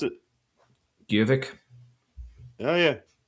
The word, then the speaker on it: Gjøvik: Gjøvik. Oh yeah. Because I know like the J makes the Y sound and the O with the line through it is kind of similar to the O umlaut in German.